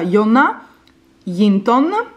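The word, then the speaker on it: Jonna Jinton: vedere lei è une che si chiama si pronuncia jona linton vede questa youtuber che vive nel nord della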